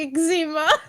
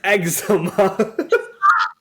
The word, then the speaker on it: eczema: to cry good I can't get over how you're saying eczema it's eczema oh my God maybe